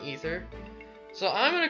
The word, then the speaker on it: Aether: looking up this word, it's pronounced ether. But when I actually, like, play Brawl, and he does his, final smash, I swear I hear Aether. And I honestly think Aether sounds a lot cooler than Ether.